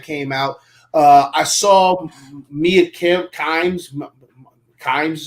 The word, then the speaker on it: Kimes: I saw Mia Kimes is how you say her last name, I think. Yes, Kimes.